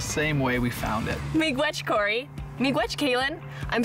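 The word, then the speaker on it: miigwech: We say mi gwech.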